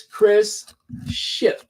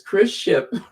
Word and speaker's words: Chris Ship: Don't ever pronounce it with that T. It's Chris Ship.